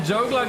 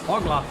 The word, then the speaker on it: Poglar: kalpana loses positions here and jogler gets par or hotlap sorry that was the old pronunciation that he was used to but of course the correct presentation is poglar hogland tries around the